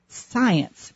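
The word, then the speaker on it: Psience: Jones, who has written an extraordinary book called Science, but it's spelled differently. It's spelled capital P-S-I-E-N-C-E, Science.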